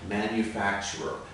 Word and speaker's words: manufacturer: where how many syllables count them let's try it manufacturer manufacturer five manufacturer five syllables however when we speak more quickly there's a tendency to combine the last two syllables here it sounds like four at this point manufacturer manufacturer it's almost like the final ER is combined with the r sound in front manufacturer then it sounds